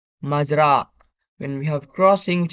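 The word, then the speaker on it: مزرعة: We have farm, which is pronounced Mazra.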